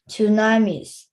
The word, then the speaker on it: tsunami: 15 meter tsunamis. Tsunamis. Remember the T is silent. You pronounce the S but you don't pronounce the T.